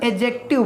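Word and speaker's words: adjective: अगला देख लेते हैं लिखा हुआ एडजेक्टिव नॉट एडजेक्टिव यहां पर इसका जूस अाइल हो डीजे ओर लेटर है वो में साइलेंट रहता है इसे हम एगजेक्टिव बोलते हैं एडजेक्टिव क्या होता है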